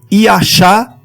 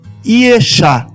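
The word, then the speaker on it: ישע: Nós vamos usar aqui a raiz Ixá, que é a raiz primitiva, que com sinais massoréticos pronuncia-se Iachá ou Iexá.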